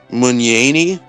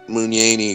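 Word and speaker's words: Mugnaini: illustrated the book um his name is joseph munyani magnate it's spelled m-u-g-n-a-i-n-i it's really cool it's very it's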